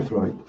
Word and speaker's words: Freud: Freud se escribe así, Freud, se pronuncia Freud.